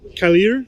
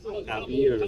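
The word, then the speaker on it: Kavier: Calier. Cavier. Cavier. Cavier. Savier but with a K.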